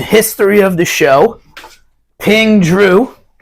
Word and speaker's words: Zhu: of the show ping Drew it's spelled Zhu but it's pronounced just like just like my nickname for Andrew and Vince's middle name